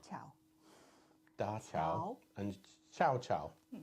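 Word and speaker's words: 小乔: and Xiao Chao.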